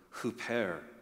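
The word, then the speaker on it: ὑπέρ: the Bible is the Greek word hoare it's spelled uh hyper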